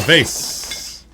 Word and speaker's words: vase: v what v a vase that vase actual linguistic Studies have been conducted on different ways people can pronounce this word whether it's said vas like ma or V like Haze well I mean technically I